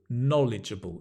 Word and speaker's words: knowledgeable: are all adjectives knowledgeable knowledgeable notice the stress is on the No No legible not legible knowledgeable knowledgeable can you say